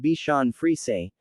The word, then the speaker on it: Bichon Frise: kids and adults alike the bichon frise pronounced b sean free say the plural is bikin's